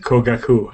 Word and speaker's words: Kogaku: No, that's how you pronounce it. Kogaku. I just put it into Google Translate. Oh, okay. There you go. Kogaku.